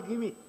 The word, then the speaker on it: Gimi: मेरा नाम है GIMI और वो लोग जो है उसको जिमी पढ़ते हैं और वो कहते हैं जिमी, जिमी। मेरा नाम जिमी नहीं है, मेरा नाम गिमी है, गधे वाला ग।